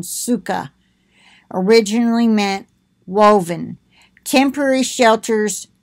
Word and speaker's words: sukkah: common use throughout the land the Hebrew word suka originally meant woven see there they've got it spelled su ke ka h so you know - that's the pronunciation suka originally meant woven temporary shelters were woven together